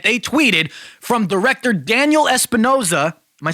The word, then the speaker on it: Espinosa: And they have a quote that they tweeted from director Daniel Espinosa. Am I saying it right? Hold up. Espinosa, yeah.